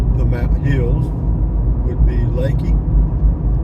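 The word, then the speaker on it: Leakey: mount Hills would be Lakey it's it's l e a k y pronounced Lakey beautiful morning for a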